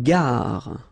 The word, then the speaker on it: gare: Une gare. Okay, remember when you get this G and A together, the sound is gg, ga, ga. Une gare. Final E not pronounced.